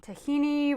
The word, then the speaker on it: tahini: time mix your tahini tahini rhymes with Lamborghini did that's a pasta